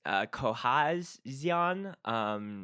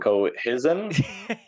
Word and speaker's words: Cohezion: Who this Cohezion? Do you know? Cohesion, I think they pronounce it or something. I don't know why there's a Z in there.